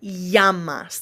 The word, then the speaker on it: llamas: If you see a word that starts or that has two L's anywhere, when there are two L's together, it always makes a Y sound, like a Y. Eye. ¿Cómo te llamas?